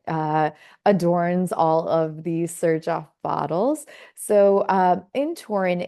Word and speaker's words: Xerjoff: together and the name sir Joff was born so the xer in front of the uh in the beginning of the word is pronounced as Sir s iir sir um